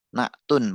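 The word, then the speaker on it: نعت: Alawwal disebut dengan naat. Na'un pengucapannya ya.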